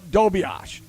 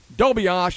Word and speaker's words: Dobias: Anyway, there's a kid up there now by the name of Jacob Dobias. Now, the way the name is spelled, it's D-O-B-I-A-S, like Dobias.